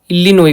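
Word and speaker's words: Illinois: flexibility नहीं यह कौन इल्यन इ्ली इिनोस तो इलीनोई प साइलेंट इलनोई को इलीनोई एजिलिटी टेस्ट एजिलिटी दे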